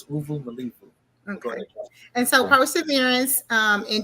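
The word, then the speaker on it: uvumilivu: I forgot how to pronounce it. Uvu Malivu. That's how you pronounce it. Uvu Malivu.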